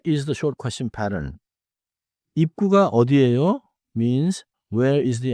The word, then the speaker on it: 입구: Close your lips at the end of then move into 입구.